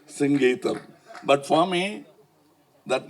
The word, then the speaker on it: Singeetham: For once and all in kamagam there was always a confusion how to pronounce his name he used to get very upset because say Mr. Sangeam. No it is singam please.